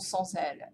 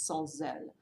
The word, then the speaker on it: sans aile: and it's spelled S-A-N-S, so because it ends with a consonant, you can kind of glue to the next word that will start with a vowel, so that's why it sounds sans aile.